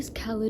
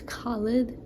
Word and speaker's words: Khaled: is um kit Runner by the American way khed husseini but I'm pretty sure the Middle Eastern way to or The Afghani way to pronounce it is completely different especially the first part a first name I believe it's khid the Afghani pronunciation but I read A